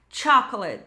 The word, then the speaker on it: chocolate: Então, lembra, quando palavras começarem com c H, vai ter esse som mais forte, como se tivesse um T antes. Então, vai ficar chocolate, chip, choose.